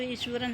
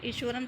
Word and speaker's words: Iswaran: बच्चों, जो ईश्वरन है इसको हम ईश्वरन प्रोनाउंस नहीं करेंगे क्योंकि हम जो नॉर्थ में हैं वो एच के साउंड को थोड़ा सा अच्छे से करते हैं प्रोनाउंस, बट जो तमिल है उसमें एच है, थोड़ा सा कम स्ट्रेस देते हैं उस पर, तो ये ईश्वरन ही रहेगा।